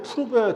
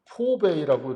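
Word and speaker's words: Pourbaix: 7의 이걸 갖다가 이제 푸르베 도표, POUR, 불어죠, 불어. 그래서 푸르베 다이어그램이라고 합니다. 이걸 이제 프랑스나 벨기에, 벨기에도 이제 프랑스어권이기 때문에 벨기에나 프랑스에서는 이걸 푸르베 도표라고 한다. 근데 이걸 이제 영국이나 미국 영미권에서는 포베이라고 이렇게 발음을 좀 이렇게 우리말로 쓰는 게 좀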